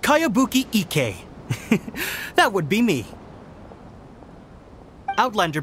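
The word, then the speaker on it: Kayabuki Ikkei: new one i've never heard of it by cowabunga icky yo mia this is a really strange name who's this cowabunga it's pronounced kayabuki ike that would be me outlander brigade is a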